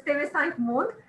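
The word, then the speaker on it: TV5 Monde: And yes, the pronunciation is Teve Saint Mond, but we'll talk about that another time.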